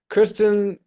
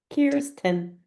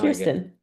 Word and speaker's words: Kirsten: So, Kristen, Kristen, I'm so sorry if I keep calling you Kristen. 10. Huh? Like ears. Ears. Kirsten. Oh, that's how you pronounce it. Kirsten. K. Ears. Ten. Now Kirsten.